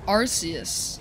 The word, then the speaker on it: Arceus: Arceus pronounced Arceus.